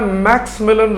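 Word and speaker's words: Maximilien: थे इनका लीडर था मैक्स मिलन रसियर याद रखा करो मैक्स मिलन मैक्स मिलन रो बस्फर आई साइलेंट हो जाता है मैक्सी मिलन नहीं कहा जाता मैक्स मिलन roar so a large group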